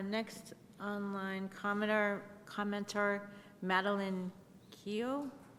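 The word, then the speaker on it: Killough: Uh, next online commenter commenter Maline Kio. Hi. Yes, thank you. Um, my name is Maline Kilo. Um, it's spelled M A D E L E I N E.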